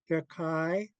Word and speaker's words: Jakai: I'm gonna do kai like rhymes with sigh. Jakai.